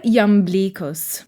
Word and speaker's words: Iamblichus: Yet, we have a turning point in the Neoplatonist view of magic with Iamblicus, or Iamblicus, using the ancient Greek pronunciation, where the contemplative primacy